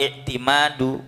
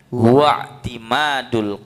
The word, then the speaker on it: اعتماد: Kalau hamzatul wasal bacanya ya diwasal, bukan huwa i'timadu, bukan begitu, bukan ya. Jadi masdarnya apa ini? i'timad. Masdarnya khumasi. Masdarnya khumasi itu dengan wazan ini, itu dia hamzanya pasti hamzah wasal, bacanya wa'timadul qalbi, begitu.